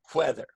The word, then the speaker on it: weather: Pronunciation is almost the same. This one, W-H, has a little more breath, whether. And this one, whether. But almost exactly the same.